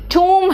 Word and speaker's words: tomb: Onion में ओ का pronunciation आ निकल जाता है, एंड टूम में ओ का प्रोनाउंसिएशन ऊ निकलता जाता।